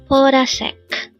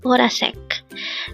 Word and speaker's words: 보라색: BORASAEK. Again, it's BORASAEK. This pronounced as a three-syllable word. The first syllable is bo, second syllable is ra, third syllable sek. Pronounce it with me. BORASAEK.